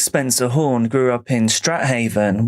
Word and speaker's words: Strathaven: Phoenix Spencer Horn grew up in Strathaven, which I've seen is actually pronounced Straven.